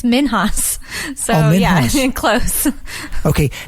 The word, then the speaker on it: Minhas: with my biological father so I actually pronounced it - for like most of my life until I found my family it's minhas oh yeah and close